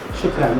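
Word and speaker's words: شكرا: How do you say thank you in Shukran. Shukran, that's right, shukran.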